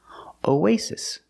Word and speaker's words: oasis: o w o way Oasis both s's are pronounced like true s's S no vibration Oasis and the I is a short eye like this is I I Oasis Oasis is countable so